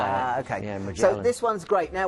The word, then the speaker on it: Magellan: I say Magellan. No, I say Magellan because I was touring around 60-day cruises around South America. Oh, yeah. And that's the way the South Americans say it. Okay. Yeah, Magellan.